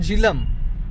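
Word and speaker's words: Jhelum: रहे हो ये रिवर जालिम नहीं जालिम। मैंने सोचा ये कैसा नाम है, जालिम रिवर। जालिम स्पेलिंग बताएंगे भैया? JHE। ओके, झीलम। हमारे उधर बोलते हैं झीलम।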